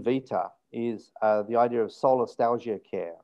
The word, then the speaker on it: solastalgia: Yeah, it's S-O-L-A, solar, S-T-A-L-I-G-I-A, solastalgia. Like nostalgia, but it's solastalgia.